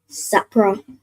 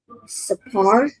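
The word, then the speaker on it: ספר: So not Sapra, but that last part. So Sa and then the Pa and Ra are joined. Right? So what sound would that make with the Pa and the Ra joined? Sapar. Sapar. Perfect. Right? So Ma'il Sapar.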